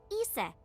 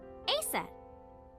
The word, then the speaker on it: Isis: Horse's mom is named Isis, but in ancient Egyptian, it's pronounced closer to Isa or Asa.